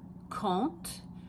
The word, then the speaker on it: compte: Je compte. So you don't really pronounce the M or the P. It just makes an on sound.